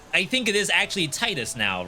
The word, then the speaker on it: Titus: Titus oh yeah I think it is actually Titus now right Square did uh Whatchamacallit a tweet giving the pronunciation for cat Sith and uh Titus my